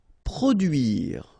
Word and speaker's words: produire: Produire. Okay, remember, difficult thing here. U, produire. Produire.